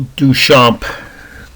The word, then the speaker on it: Duchamp: golds greens reds and whites this is Marcel Duchamp or as my aunt Anne Indiana would have pronounced at Dutch amp de uch a MP